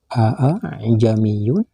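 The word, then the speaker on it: أأعجمي: dengan kalimat a jamiyun Hamzah kedua dari kalimat tersebut tidak jelas dibaca fathahnya untuk contoh cara membacanya seperti ini auzubillahim minasyaitanirrajim Bismillahirrahmanirrahim a jamiu yaitu dibaca panjang panjangnya satu Alif atau sama dengan dua harkat saudara-saudara kaum muslimin dan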